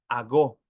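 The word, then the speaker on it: ἄγω: guiados ese verbo guiar viene del griego ago con acento en la o y significa ser conducidos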